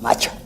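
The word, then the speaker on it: Matxa: Se escribe M-A-T-X-A, macha.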